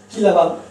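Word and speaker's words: Kislovodsk: Él nació en Kislavoodsk, disculpe mi ruso, ¿cierto? Ahí aparece una O, se pronuncia como A, en una ciudad del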